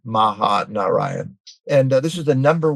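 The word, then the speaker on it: Mahanarayan: an herb called or oil called mahaan I'll spell that it's m a ha a n a r a y a n Maha Narayan and this is the number one muscular skeletal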